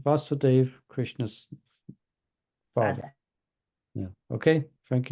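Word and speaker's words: Vāsudeva: So Vasudeva, so with the line above the A, it's Krishna. It's Krishna. So it's pronounced Vasudeva, exaggerating the prolonged And pronunciation. Vasudeva, Krishna's father.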